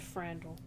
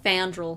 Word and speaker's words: Fandral: I will die on this hill named Frandral. Frandral? Fandral. Fandral. My bad. The R's at the end.